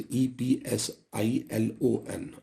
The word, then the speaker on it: epsilon: epsilon not epsilon R this is pronounced as eps IL o n epsilon not epsilon R but what